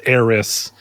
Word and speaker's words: Aerith: Just like Kingdom Hearts really got people going on the Aerith versus Eris. It's Eris.